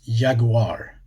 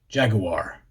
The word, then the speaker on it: jaguar: So it's yaguar. And then that soft u sound as well instead of jagu which always makes me think of the way Americans say it. Jaguar.